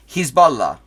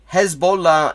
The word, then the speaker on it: Hezbollah: he's is not wrong the actual the uh AR Arabic pronunciation would be hisbah Hezbollah is the farsy pronunciation and I'm not sure why we mostly use that in English because that is not the pronunciation that really it is known by in the region like because people don't